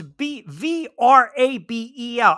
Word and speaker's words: Vrabel: I know it's not Grable with a G. I understand. I mean, yes, the V is kind of silent, like Grable. Isn't that also? Look how Vince phonetically. Wait, isn't that what was the other word? I mean, look, you guys know I'm gonna butcher this. Vabel. No, it's Vrabel.